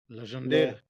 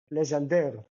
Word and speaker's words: Legendre: Legendre. Legendre.